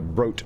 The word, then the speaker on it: Brote: What'd you end up playing last night there, Mr. Brote Toad? Rhymes with goat.